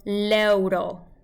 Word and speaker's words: l'euro: But it doesn't change the pronunciation. It's still l'euro. Almost as if the L's not there.